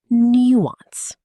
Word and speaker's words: nuance: Nuance. 2 syllables. The stress falls on the first. Nuance. The word comes from French, and some speakers preserve a slight French quality in the vowel sounds. In American English, it is sometimes pronounced nuance. Both are acceptable.